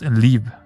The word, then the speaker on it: Liv: It is pronounced Liv. No, actually that's not true. Liv. Yeah, just Liv. That's how you would pronounce it in Danish.